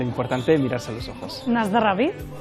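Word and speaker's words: na zdraví: s decir osasuna aquí Cómo se dice aquí se dice nasd dravi y lo importante es mirarse los ojos nasd dravi nasra es este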